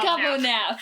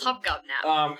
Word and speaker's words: Hobgobnap: Hobgobnap. Gobonap. It's 3 syllables. Hobgobnap.